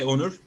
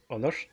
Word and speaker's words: Onur: I'd usually say Onur, and you'd hear a sh sound at the end, yeah? Onur?